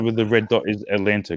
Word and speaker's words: Atlanta: Atlanta. Atlanta. Atlanta. You don't even pronounce the T.